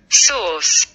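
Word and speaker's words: source: আবার একটু খেয়াল করো, সোর্স সোর্স সোর্স। এখানে খেয়াল করো যে আর উচ্চারণটা একদম খুবই ক্ষীণ, একদম খুবই অল্প সময়ের জন্য উচ্চারণ করছে, বাট সি এবং ই এটার উচ্চারণটা খেয়াল করো একটু দীর্ঘায়িত।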